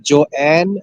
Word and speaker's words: Joanne: Is it Joanne or John? John. Joanne. Joanne. So it's Mhm. two syllable.